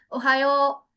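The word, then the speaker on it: おはよう: सो नाउ अब एक vowel लग गया इसके आगे तो it will get stretch, a little stretch, तो इट विल बी ओहायो।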